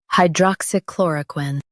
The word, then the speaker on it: hydroxychloroquine: Focus on chlor and keep quin light. Hydroxychloroquine. Hydroxychloroquine.